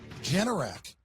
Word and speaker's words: Generac: Generac, right? Generac.